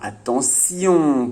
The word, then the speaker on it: attention: Et oui, le T fait souvent le son T, mais parfois il peut faire aussi le son S, comme dans attention par exemple.